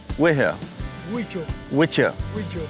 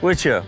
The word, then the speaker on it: Wicho: So you spell that like W I I H O. Wicho. Wicho.